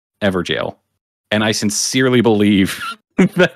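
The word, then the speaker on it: Evergaol: made that launched us I pronounced evergel evergowl and I would say I received somewhere around a thousand comments telling me to pronounce it ever jail and I sincerely believe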